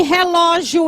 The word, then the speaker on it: relógio: Por que que relógio é acentuado? Porque o acento é no ló, acento agudo, porque a palavra sílaba forte é a penúltima.